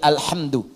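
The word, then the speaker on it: الحمد: Bacaan di qira'ah sab'ah semua para pembacanya itu mendhammahkan huruf dal di alhamdu.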